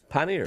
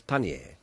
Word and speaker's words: panniers: Is that pronounced panniers? Panniers. Panniers, that's what they're called. And they call them in France panier, but that's too complicated for us.